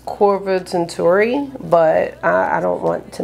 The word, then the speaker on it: Korvatunturi: the pronunciation because it looks like it says Corva Tunturi, but I don't want to mess that up. Corva Tunturi. Corva Tunturi. Almost had it. Korvatunturi. What does that mean? You know, with the pronunciation, they should have what it means.